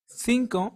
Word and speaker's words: cinco: will be the word Cinco Cinco cinco means five and notice how the vowel I is after their C so it sounds like Cinco similar to the one in state another example is